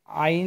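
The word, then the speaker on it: عين: হ্যাঁ, আমরা হা হরফটি যে জায়গাতে উচ্চারণ করেছি, সেম জায়গা থেকে এই আইন হরফটি উচ্চারণ করব।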